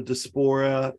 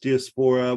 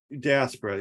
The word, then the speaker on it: diaspora: think that theme of like uh I always mispronounce this the dysphora just diaspora where like you you lose diaspora yeah thank you uh you lose your cultural